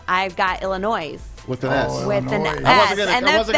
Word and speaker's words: Illinois: worse but but yeah so i have illinois with the s being silent with their nickname the